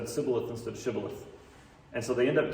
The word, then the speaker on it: shibboleth: that made it so they didn't pronounce the sh sound correctly and it came out as a hissing s sound so instead of saying shibboleth they would have to